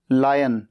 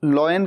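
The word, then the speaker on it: lion: एल आई ओ एन लायन शेर कई बार इसे लोग लॉयन कह देते हैं लॉयन नहीं कहना है हमेशा कहना है लायन टी आई जी जी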